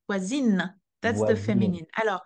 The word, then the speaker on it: voisine: And then because the E is added, the N is pronounced. Voisine.